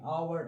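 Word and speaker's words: hour: Mas os Hs iniciais em inglês podem ser simplesmente mudos, não ter um som. Então, nessas quatro palavras-chave aqui, our, air, under e honest,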